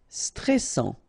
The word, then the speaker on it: stressant: Stressant, okay, final T not pronounced, and then A-N, stressant.